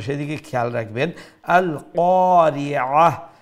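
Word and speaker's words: القارعة: আল কারিআহ, এইটা যদি আল কারিআহ বলি তাইলে এটা হামজার মতো উচ্চারণ হচ্ছে, অর্থাৎ গলার নিচ থেকে, নিচ অংশ থেকে, অর্থাৎ সিনার সাথে গলার যে অংশটা আছে সেখান থেকে উচ্চারণ হচ্ছে। তো এইটা কি হবে, তো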